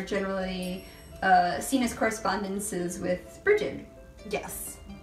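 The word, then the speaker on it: Brigid: correspondences with Bridget yes which here it says you should pronounce Brucie yeah breed whatever really yeah I mean there's actually several different pronunciations but yeah breed is one of the most popular so the different pronunciation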